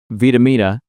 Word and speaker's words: Vitamina: And one of the things I want to share before we transition to Vitamina, am I saying it right? Yes.